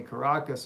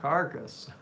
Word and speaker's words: Caracas: sent that to me Caracas is how you say it not carcass they're not there well they